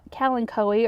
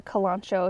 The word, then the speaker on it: Kalanchoe: called aruba sunrise it's a type of calancoe or you could call it a kalancho if you want to be in my pronunciation camp let's see yeah i